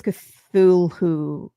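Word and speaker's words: Cthulhu: So I always say it wrong too. It's cathulooish.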